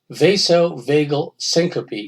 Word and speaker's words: vasovagal syncope: He suffered from," okay, it's pronounced vasovagal syncope.